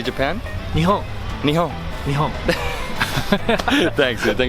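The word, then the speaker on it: 日本: Nihon.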